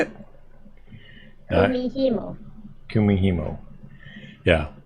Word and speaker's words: Kumihimo: It's Kumihumu, which is, or Kumihumo? How do you say it? Kumihimo.